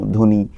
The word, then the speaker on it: ধ্বনি: যেমন স্বপ্ন, ধ্বনি এই শব্দগুলোর ব খেয়াল করলে দেখব এদের উচ্চারণ কিন্তু ব এর মত হয় না। এই ব এর উচ্চারণ স্বাধীনভাবে নেই। বরঞ্চ যেই বর্ণের সঙ্গে যুক্ত হয় তাকে দ্বিত্য উচ্চারণ করে।